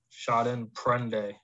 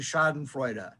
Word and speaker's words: Schadenfreude: how to pronounce that shot in prende chardon freud schaden freud it's actually shot in freuda that's an f not a p oh whoops my bad